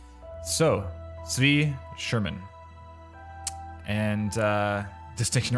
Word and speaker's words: Tzvi: We're looking at some demo reel content, some game audio stuff from Tzvi. Tzvi? Is that right? Tzvi Sherman. And Viraj Ramsharan. Tzvi?